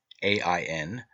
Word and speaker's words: Aen: In this myth, John, Aen, spelled A-E-N, E-I-O-N, and A-I-N, three forms of the word and all pronounced Ain, represents the redeemed and